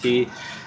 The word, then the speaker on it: Caye: That's why today we made our way to Caye I keep wanting to say Key because it's C A Y E, but I believe it's pronounced Key.